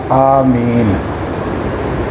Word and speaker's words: آمین: صحیح لغت ہے آمین، الف کھینچ کر مد کے ساتھ آمین۔ آمین بھی غلط ہے